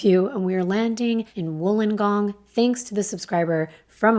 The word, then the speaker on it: Wollongong: for some of you and we're landing in wollongong thanks to the subscriber from australia that corrected the way it was pronouncing it thank you wolingong it's a large coastal city located south of